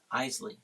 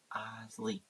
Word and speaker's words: Iseli: Iseli. Like the Iseli brothers. Iseli.